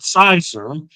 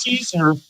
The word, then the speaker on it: Caesar: And I applied to a company by the name of, I called it Sizer. And I found out that it was actually pronounced Caesar, like the salad.